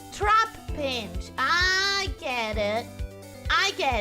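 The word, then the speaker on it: Trapinch: that you pronounce it it's not Torah pinch it's trap pinch I get it I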